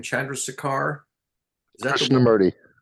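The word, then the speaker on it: Krishnamurti: say his first name Chandra SAR is that kishna mury Krishna mury yeah yeah so theoretically that is an exemplary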